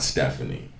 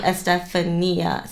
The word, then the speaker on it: Estefania: some way but yeah i am not stephanie i'm sorry yeah i just said a stephanie and you literally shortened my name to one last syllable two less syllables stephanie estefania well because i think